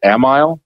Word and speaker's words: Amiel: The middle name is pronounced in the family as Amiel.